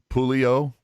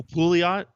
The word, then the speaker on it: Pouliot: up a spot for whether it's Merkley or Pulio. Who? I know I'm not pronouncing that right. Derek Pouliot? Oh, Pouliot.